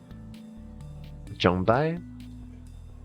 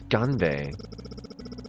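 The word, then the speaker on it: 干杯: Jonbai? I don't know how to pronounce Korean. I'm assuming it's correct. Jonbai. Jonbai! What's that one mean again? Cheers, Hawk. Oh yeah, Ganbei. Oh, it's Ganbei.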